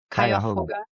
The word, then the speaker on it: Cuyahoga: Cuyahoga.